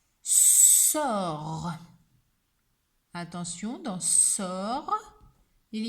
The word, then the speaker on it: sort: Et à la fin, il y a une lettre qu'on n'entend pas, le T, parce qu'une sorcière jette des sortilèges. Il s'écrit, mais ne s'entend pas.